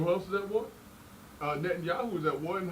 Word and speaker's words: Netanyahu: Because when you bring up Putin, when you bring up Netanyahu, how you pronounce his name? Netanyahu.